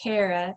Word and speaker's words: Cara: along with Cara actually my name is pronounced Cara like I care a lot is kind of